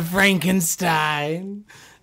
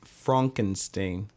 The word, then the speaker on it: Frankenstein: Frankenstein. No, it's pronounced Frankenstein. You're putting me on. No, I'm not. It's Frankenstein.